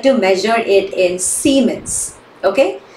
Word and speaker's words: Siemens: to measure it in Siemens okay Simons Siemens whatever you want to say Simons okay s-i-e-m-e-n-sc Simons capital S basically okay all right